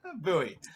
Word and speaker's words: Bowie: i have no idea how to pronounce it so buoy oh good so i